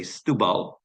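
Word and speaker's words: Setúbal: underneath Lisbon you see the name is spelled setubal the Portuguese say stal which is where I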